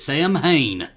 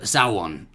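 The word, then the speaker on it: Samhain: Sam Hain. I know it goes Sawan or something.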